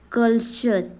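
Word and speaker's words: culture: के आगे या फिर यू आर ई आई तो टी का उच्चारण च हो जाता है क्या हो जाता है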